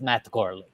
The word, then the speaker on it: Matt Gourley: The football, the golfer, the martini glass, they are all silent. It is still pronounced Matt Gourley.